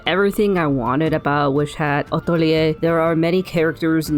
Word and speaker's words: Atelier: How would you go about pronouncing this in French originally? Atelier. Atelier, but in English or American, this would be said atelier.